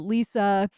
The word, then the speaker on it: Lisa: I always want to say Lessa because of how it's spelt, but Lisa and and and all that.